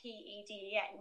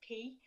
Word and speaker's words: Peden: And then like my surname is Peden, but it's spelled like P-E-D-E-N, but it's pronounced P.